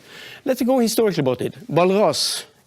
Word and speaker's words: Walras: Walras, and his name is pronounced that way because he came from Switzerland.